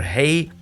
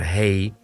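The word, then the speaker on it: ה: The fifth Hebrew letter, the letter Hey, is pronounced as a H sound, pretty much like our H in English.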